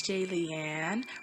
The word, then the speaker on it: Jaylian: you are hey it's jay leanne rhymes with alien like if you're a fan comment and subscribe hello my name is jaylian and today we will